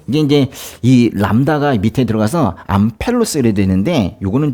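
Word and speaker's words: ἄμπελος: 해서 암 페루스 이게 이제이 람다가 밑에 들어가서 암펠로스 이래 되는데 요거는 좀 그렇게 발음 좀 잘 안 하더라고요 암펠로스 뭔 패는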